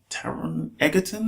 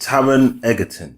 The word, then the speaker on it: Taron Egerton: And the new guy, young guy, I should say, is Taron Egerton, I believe it's pronounced. Taron Egerton.